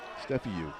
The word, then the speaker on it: Stefiuk: Right-handed batter Zach Fisher DHing for the right fielder Nico Stefiuk. Stefiuk is the pronunciation.